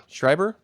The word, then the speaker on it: Schreiber: mean can we talk Joe Schreiber Schreiber briber Schreiber that's pronounced Joe Schreiber wrote this back in 2009